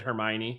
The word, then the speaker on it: Hermione: Yeah, in the movies they pronounce it Hermione. I think you said it right.